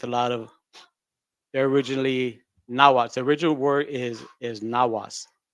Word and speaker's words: Nahuatl: The L is silent, but a lot of people say Nahuatl, Nahuatl.